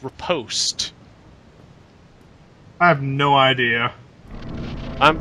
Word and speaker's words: riposte: And that's a Rapazzi, also known as a fuck you up really hard stab because you got parried, bitch. I was pretty sure it's pronounced riposte.